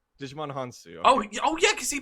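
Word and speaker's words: Hounsou: Digimon Hansu. Digimon Hansu.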